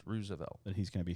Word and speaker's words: Roosevelt: I believe it's pronounced Roosevelt.